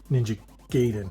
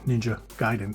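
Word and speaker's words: Ninja Gaiden: So it's like people who say ninja gayen. No, it's Giden. Ninja Giden. That's the correct pronunciation.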